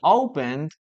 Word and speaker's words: opened: Remember we never pronounce the letter E here. Okay? We never pronounce the letter E. We opened letter D. Opened.